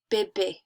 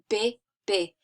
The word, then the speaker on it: bébé: So, we have E, accent aigu, bébé. That's the example, bébé. You can hear that it's not E anymore, right?